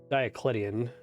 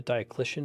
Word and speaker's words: Diocletian: it could be that I vamped diaclitian the Diocletian is how you pronounce it I actually shouldn't have